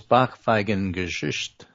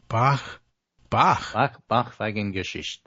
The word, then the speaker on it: Backpfeifengesicht: I will mispronounce it and mangle it, but nonetheless, the word is backpfeifengesicht.